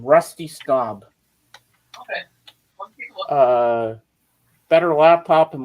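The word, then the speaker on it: Staub: for I don't have it I'm sorry uh it's spelled s t Au u b for the last name Rusty stob okay uh better laptop and more carnival rides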